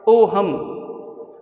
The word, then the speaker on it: Ohm: इसमें H silent होता है, ओ हम जैसे ऋतिक रोशन है लेकिन इसका नाम एच से स्टार्ट होता है, उसी तरीके से ओहम है लेकिन ओम कह देते हैं हम उच्चारण में।